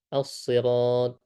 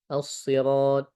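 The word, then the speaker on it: الصراط: Assirat menggunakan huruf shad ya. Dan huruf shad. Maka di sini kita berusaha menebalkan huruf shad ini. Ee dan biasanya orang Indonesia agak kesulitan menyebutkan huruf shad ya karena tidak ada di bahasa kita ya as asirat.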